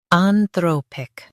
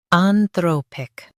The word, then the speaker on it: Anthropic: Today we will learn how to pronounce the word shown on the screen. Anthropic. Both US and UK have the same pronunciation of this word. Anthropic.